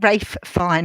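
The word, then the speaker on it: Ralph Fiennes: Yeah, Ralph Fine. Yeah, he did offer. That's how you say Rafe Fine, or whatever you say his name now.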